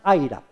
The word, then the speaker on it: iRAP: El programa lo pronuncian AIRAP, y la I inicial en minúscula no es un error de mecanografía, sino que así lo tiene.